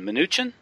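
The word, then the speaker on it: Mnuchin: Um, and his uh, appointment or his, uh, his pick is this guy Steven Minutuchin, is how you pronounce it.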